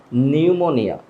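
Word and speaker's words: pneumonia: তো বাংলাটা আমরা সবাই জানি নিউমোনিয়া, নিউমোনিয়া, এখানে পের উচ্চারণটা হবে না।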